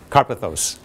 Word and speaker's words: Karpathos: Correct pronunciation? Karpathos.